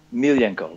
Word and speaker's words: Milijenko: Is it Milijenko or Milijenko? Milijenko, right. Milijenko.